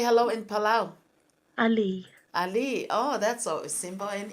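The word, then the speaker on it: Alii: Pala how do you say hello in Pala Ali Ali oh that's so simple and easy yeah did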